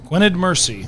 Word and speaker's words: Gwynedd Mercy: First heat with Egg Harbor on your right, lane 2, Cathedral Catholic, and lane 4, how do we pronounce that? Gwynedd Mercy.